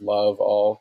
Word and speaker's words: Laval: mean my last name laval and i on my instagram i break it down phonetically as love all because i mean that's how you say it yeah and the fact